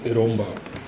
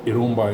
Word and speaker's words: eromba: had asked me uh what iroma is and they had misspelled it in most of the manipuri food forums romai is spelled e r o m MBA and uh eroma is one of the